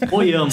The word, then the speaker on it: Hoyama: Qual que é a pronúncia certa? Oyama? Oyama. Oyama, igual eu falei, né?